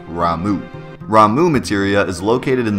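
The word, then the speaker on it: Ramuh: and by the way I've heard a lot of different pronunciations of ramu I've heard Rama I've heard RMA so you pronounce it the way you like to pronounce it I like ramu ramu Materia is located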